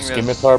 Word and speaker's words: scimitar: Scimitar Scimitar, bro, really? All right, how do you how do I pronounce scimitar? Yeah, I'm pretty sure the C is silent.